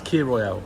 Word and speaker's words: Kir Royale: No, K-I-R. It's Kir Royale, that's how you say it.